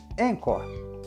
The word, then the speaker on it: Anchor: aqui Vale lembrar que encor se escreve a n c h o r encor o jeito mais fácil